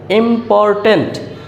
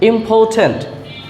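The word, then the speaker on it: important: আমরা ইম্পর্টেন্ট বলে জানি ইম্পর্টেন্ট কিন্তু এর সঠিক উচ্চারণ হবে ইম্পর্টেন্ট ইম্পর্টেন্ট ইম্পর্টেন্ট ইম্পর্টেন্ট ইম্পর্টেন্ট এই আর এর উচ্চারণ হবে না যখন আর এর আগে ভাওয়েল থাকে তখন আর এর উচ্চারণ হয় না ইম্পর্টেন্ট ইম্পর্টেন্ট যার অর্থ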